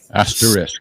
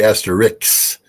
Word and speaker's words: asterisk: even wondering is because there is an S before the cut well I I say Asterix and that's wrong all